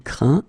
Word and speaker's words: craint: Okay, but then phonetically, as you know, you pronounce them the same. Craint, craint, craint.